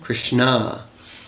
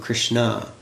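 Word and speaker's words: Krishnaa: It's Krishna, because Draupadi's other name is Krishna, with a long A at the end. Not Krishna, but Krishna.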